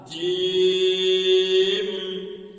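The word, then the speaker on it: جيم: বলেন আলিফ বা তা জিম জিম জিমের উচ্চারণ জিমের মাঝখান উপরের তালুতে লাগবে এইভাবে বলেন একটু শক্তি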